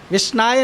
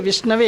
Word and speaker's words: विष्णवे: विष्णाय नहीं है, विष्णवे है।